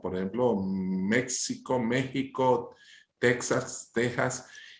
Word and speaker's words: México: Bueno, fíjate tú, ese vocablo sorop o joropo, en el castellano antiguo la X se tendría a pronunciar como una J, por ejemplo, México, México, Texas, Texas.